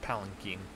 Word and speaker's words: palanquin: arms palin quinn palinkin i have to remind myself that it's pronounced palinking because every time i see it i think of like pangolin and i'm like no that's not how it's pronounced is there anything else